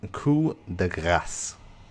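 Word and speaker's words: coup de grâce: It's pronounced coup de grace, by the way.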